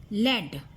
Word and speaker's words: lead: Lead, rhyming with seed, is a verb that means to show the way.